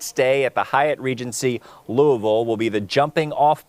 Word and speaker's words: Louisville: You got to kind of slur it all together. Yeah, Louisville.